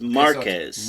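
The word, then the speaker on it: Márquez: aunt Wana there's no such thing and it's Marquez Marquez all right and right they put the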